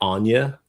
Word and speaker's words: Agnes: She Well, they pronounce it like Anya, but Anas.